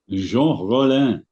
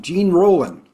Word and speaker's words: Jean Rollin: Indicator on 4K UHD, and that director is Jean Rollin. what a pronunciation. That's Merci beaucoup, monsieur. thing of beauty. I'd call him Gene Roland.